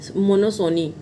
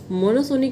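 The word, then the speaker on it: monopsony: 22 मोनोसोनी, याद रखिएगा, देखिए ये वर्ड आ गया PS, ठीक है, सोनी, पी इसमें वो है साइलेंट है। मोनोसोनी का मतलब होता है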